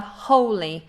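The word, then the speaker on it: wholly: This is a silent W. So we have holy, very similar to this word, holy. So it sounds exactly the same, but it's got a different meaning.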